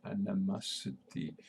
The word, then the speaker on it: animosity: It is a sound schwa. An, and the accent. We have accent on third syllable. Masity, again schwa here, animosity. Vowels. First here, these vowels and these vowels we pronounce and this T we pronounce more D than T. First A we pronounce more E than A, and it's O, and O, this O we pronounce A, long stretch A.